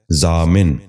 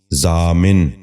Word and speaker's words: ضامن: دوسرا لفظ ہے ضامن۔ یہ غلط تلفظ ہے، درست تلفظ ہے ضامن۔ دوبارہ سنیے، ضامن۔ بچوں آپ بھی غور